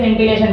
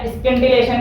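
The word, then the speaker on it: scintillation: वैसे S silent होके सेंटिलेशन बोलते हैं, ठीक है। अब ये या स्केंटिलेशन कुछ अंग्रेजी बोल लेते हैं, तो तुम्हारी मर्जी जो तुम बोलो।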